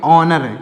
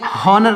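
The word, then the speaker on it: honour: हावर नहीं पढ़ेंगे आगे एच ओ एन ओ यर उसको पढ़ेंगे ऑनर क्या पढ़ेंगे ऑनर इसको पढ़ेंगे ऑनर इसमें होनर नहीं पढ़ेंगे य साइलेंट है तो जितने भी शब्द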